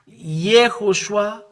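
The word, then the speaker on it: יהושע: Here it is Yehoshua or Yehoshua. It's Hebrew or wrote it. Hebrew study, transliteration, pronunciation, etymology, and grammar.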